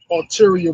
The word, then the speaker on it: ulterior: They got a ulterior motive. That's how they say it. Ulterior motive. You know, that's how it's pronounced.